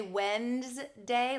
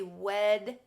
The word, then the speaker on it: Wednesday: Most people say Wednesday, like there's an N in front of the D, but it's really Wednesday.